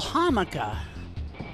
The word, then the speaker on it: jamaica: Why do they call the country Jamaica and they call a vegetable hamaca? That makes no sense. They're spelled exactly the same.